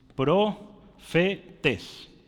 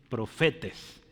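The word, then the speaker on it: προφῆται: palabra griega profetas y esta palabra aquí se lee es profetes profetes Aquí está el acentito esto se o como e parece una n pero es una Entonces profetes es la palabra verdad y Qué significa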